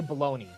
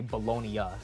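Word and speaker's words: bologna: like say it okay I know how to say baloney okay I wasn't going to say bolognia or Bonia or something I have some culture I know it's baloney I don't know bro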